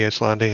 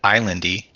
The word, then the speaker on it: Islandi: Just say when you're ready, Islandi, and then we'll have the tanks start the timer. I will not pull threat this time. Is that how you say his name? Islandi, yeah. I've been saying Islandy.